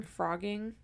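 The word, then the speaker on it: phrogging: have you heard of the term frogging I don't believe so at least I don't so it's spelled with a pH um p h r o g g i n g um so that's essentially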